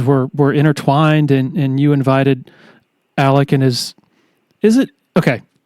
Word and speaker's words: Alex: intertwined, and you invited Alec and is it okay? It's spelled Alex, but I guess we need to call him Alec.